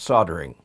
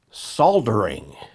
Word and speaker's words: soldering: solder is called soldering well at least we Americans call it soldering in the UK they voice the silent L to create soldering in either case soldering